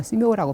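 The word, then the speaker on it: 寺庙: 한국말로 사묘고 중국말로 스묘라고 발음을 하는데 도교 사찰인지 불교 사찰인지 구별이 안 될 때가 있어요.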